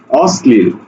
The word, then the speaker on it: অশ্লীল: তো লিখে আছে অশ্লীল শব্দের মাঝে ল থাকলে ল ফলা থাকলে সেটা দৃপ্ত করে এজন্য আমাদেরকে দীপ্ত করে লিখতে হবে অর্থাৎ স দুইবার লিখতে হবে অস লিল এখন দেখো